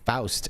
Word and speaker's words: Faust: That's pronounced Faust, everyone, with the O. What's up, Amelia? Faust, the O-W sound.